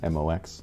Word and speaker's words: Mox: here this my friends is the puma mirage mox i think i'm saying it right i really hope how else could you say it mokes mox it's gotta be mox but this is actually